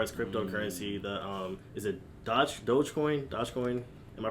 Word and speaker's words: Dogecoin: But as far as cryptocurrency, the is it Dogecoin? Am I pronouncing it correct? Dogecoin.